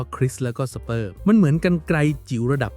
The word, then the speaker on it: CRISPR: ชื่อ ว่า นะ ครับ อ่าน ว่า คริส แล้ว ก็ สเปอร์ มัน เหมือน กรรไกร จิ๋ว